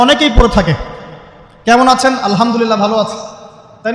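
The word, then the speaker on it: الحمد لله: আলহামদুলিল্লাহ, শব্দটা কি আলহামদুলিল্লাহ, এই হা এর মাখরাজ কোথায়? হা এর মাখরাজ কোথায় বলেন একজন? কণ্ঠনালীর মাঝখান থেকে। এখান থেকে আপনি উচ্চারণ করছেন আলহামদুলিল্লাহ রাব্বিল আলামিন, অর্থ দাঁড়াচ্ছে সমস্ত প্রশংসা জগৎসমূহের রব আল্লাহর জন্য, ঠিক আছে?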